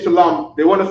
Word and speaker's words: Shalom: in more Hebrew so Shalom shalam is two syllables so here goes an